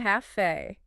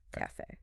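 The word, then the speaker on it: café: Well, remember that word we mentioned earlier, cafe. Cafe. It's a perfect example of an exception that proves the rule. So the stress is on fe.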